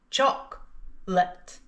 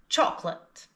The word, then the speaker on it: chocolate: Chocolate. Chocolate. Chocolate. And here's the written form. It looks like it's got 3 syllables, but we only pronounce 2.